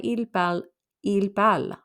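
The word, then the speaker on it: parlent: plural we have il we don't pronounce the ent so this can mean they speak they are speaking they do speak so four of those sound the same je pal tripal il pal right in fact sounds the exact same the only way you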